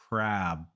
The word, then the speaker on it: crab: there's no difference but the only difference is the length of the vowel so when you want to say crab make the vowel longer crab and when you want to say crap make that vowel very short crap it's the same vowel a just the length changes crab crab CB crap